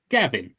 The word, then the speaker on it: Gnavin: No, Gavin. The N is silent. It's spelled like the same way gnome is spelled.